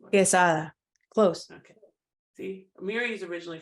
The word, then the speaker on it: Quesada: Quesada.